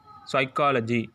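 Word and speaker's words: psychology: வந்தா ஷன் ஷன் தான் நம்ம என்ன செய்யணும் வாசிக்கணும் உச்சரிக்கணும் சரிங்களா சோ அதுக்கப்புறம் பாருங்க பி எஸ் ஒய் இதை நம்ம எப்படி வாசி சைக்காலஜி சைக்கோ அப்படின்னு சொல்லுவோம்ல வேர்ட்ஸ் சோ சைக்காலஜின்னு சொல்லும்போது அந்த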